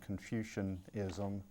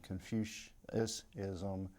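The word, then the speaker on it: Confucianism: with uh pronunciation uh with the word confusion ISM the student the captain R when he answered said confu ISM and he just mispronounced the word um put an extra sound like put an extra Sy syllable also and we have Ruled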